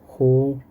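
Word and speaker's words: ほうれん草: 그래서 시라스 호렌소. 이건 한자로 써 있죠. 풀초. 풀이라는 뜻인데. 자, 요거 읽을 때는 소라고 읽어요. 소. 길게 소.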